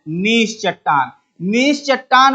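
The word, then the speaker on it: gneiss: ऐसे लिखते हैं इसे। जी इसका साइलेंट होता है। जी इसका चुप होता है। और इसको पढ़ते क्या हैं? नीश चट्टान।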